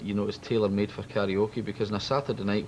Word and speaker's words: karaoke: Karaoke, or karaoke as it's pronounced in Japanese, means literally empty orchestras.